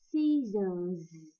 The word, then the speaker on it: scissors: Các bạn lưu ý ha, scissors. Cái chữ S, hai chữ S chính giữa được đọc là âm z và chữ S cuối cùng cũng là âm z.